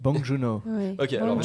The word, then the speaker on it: Bong Joon-ho: n'entend rien dit quand vous êtes en 38 bong joon-ho mathias bon john a encore une fois avec